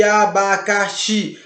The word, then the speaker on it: abacaxi: Abacaxi não tem acento, mas você percebe que abacaxi, a sílaba mais forte é a xi, o xi. Você não pode dizer abacaxi ou abacas. Você tem que dizer abacaxi. Então, o xi é o mais forte, é a última sílaba, então por isso ela é uma oxítona.